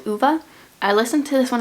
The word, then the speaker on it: Ove: that i don't own is a man called uva i listened to this one on audio and that's how they pronounce the name on audio it's spelled ove